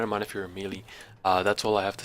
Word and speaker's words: melee: It's melee. M-E, me, Lee, like, you know what I mean? Bruce Lee. Melee. Malay. Malay. Cause the AY is silent. There ain't no goddamn AY.